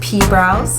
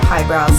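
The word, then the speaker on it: PhiBrows: Yes, by the way, I know it is pronounced P-brows, but I like to say pie brows, so if that bothers you, you can just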